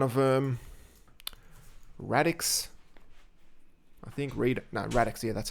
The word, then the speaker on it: Radix: Radix, I think Radix, yeah, that's how you pronounce it, is one that just, I think, yeah, in October released a stable for version 4.